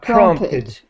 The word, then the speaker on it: prompted: The T sound is important. Yeah, prompted. Prompted. Prompted. Yeah, the Wow, last sound difficult. is, no, just the last sound is tid.